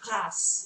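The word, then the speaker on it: grâce: and say C because we sort of think that the last consonant isn't pronounced in a French word but in fact in this particular word the French pronunciation is grass it would be pronounced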